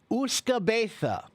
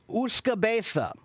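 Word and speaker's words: uisce beatha: So the original meaning of whiskey Whiskey, they used to pronounce it, the pronouncing was Uskabetha. Uskabetha. Uskabetha means water of life.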